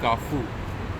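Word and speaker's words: Carrefour: तो फिर बाद में मुझे पता चला कि जो फ्रेंच होती है उसमें जो लास्ट के जो कॉन्सोनेंट्स होते हैं उनको प्रोनाउंस नहीं करते, तो जो वॉवेल है लास्ट में मतलब FO, तो वहीं तक ही उसको बोला जाता है।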